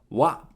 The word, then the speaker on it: わ: わ is pronounced like ‘wa’ in ‘wasabi’ So in English, we’ll